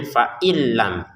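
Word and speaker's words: فإن لم: Ada yang cara bacanya beda dengan tulisannya. Ini tulisannya fain lam tapi cara bacanya faillam gitu ya.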